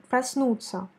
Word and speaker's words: проснуться: Dans le mot, par exemple, проснуться, la voyelle O n'est pas accentuée et donc il faut la prononcer comme A. Проснуться. Et je te rappelle que la combinaison de lettres T, signe mou, S, dans le verbe se prononce comme ts, ce qui nous donne проснуться, проснуться, проснуться к обеду.